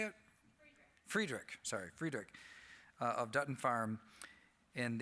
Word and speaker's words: Friedrich: Friedrich.